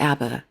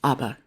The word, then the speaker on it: ABBA: I know some people call it ABBA, but I grew up learning how to pronounce it as ABBA, so I hope I didn't offend anybody.